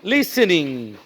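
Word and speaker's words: listening: এস তারপর টি ই এন আই এন জি লিসেনিং মূলত লিখছি এখানে লিসেনিং লিসেনিং কিন্তু মূলত উচ্চারণ হবে লিসেনিং কি হবে লিসেনিং কি হবে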